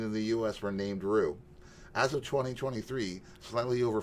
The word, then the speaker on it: Rue: Kevin Sullivan for a reason yes um Rue pronounced Rue thank you yes uh I was rig r